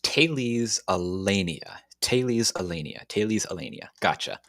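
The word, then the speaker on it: Thales Alenia: me and saying that it's pronounced taylee's allenia taylee's alenia taylee's alenia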